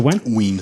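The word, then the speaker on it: Wein: Is it Wen? Ween.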